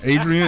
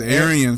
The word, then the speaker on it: Arian: man name wrong too Adrian is not Aryan it's Aryan Foster that's Aaron Aryan man